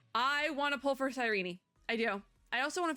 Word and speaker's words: Cyrene: It is Sirene. I just It's like a Hades 2 Seline situation o all over again. That must be like a like the actual Greek pronunciation or something. They they say it with with the extra syllable there.